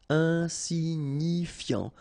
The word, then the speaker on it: insignifiant: Okay, final T not pronounced, so you've got this I-A-N, ian, so F before, fiant. Insigni, okay, remember, G-N-I, ni, ni, insignifiant.